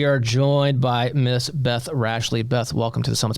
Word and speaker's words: Rashleigh: It's like Ashley with an R in front of it.